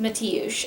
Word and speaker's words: Mateusz: But I found a name that I believe is the Polish version of Matthew, and this is how it's spelled, and it's pronounced Mateusz, and I thought it was just the cutest stinking name ever, and it seemed like the perfect name.